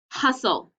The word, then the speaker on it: hustle: out and then oh all we hear is the l but use what we learned from whistle to help you do the second syllable should look like that